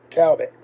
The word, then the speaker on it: Cowbit: And it's spelled Cowbit, but I think it's Cabot, or something like that.